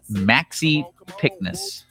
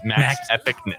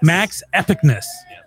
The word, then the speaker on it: Maxepicness: but his name is DJ name, turntable name, Maxi Pickness. I probably said that wrong. You can correct me real quick. So it's actually pronounced Max Epicness. Max Epicness.